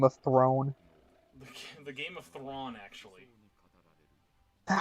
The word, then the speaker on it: Thrawn: The Game of Thrawn, actually. Is that how you pronounce it? No, he's Thrawn.